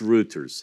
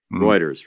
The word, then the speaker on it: Reuters: countries around the world is it R it's roters how do you say r u t e RS Reuters Reuters there you go that's right I'd never heard it